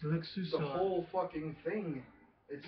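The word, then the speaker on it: Luksusowa: It's LOOK-SOO-SO-VAH. The whole fucking thing. It says... LOOK-SOO-SO-VAH?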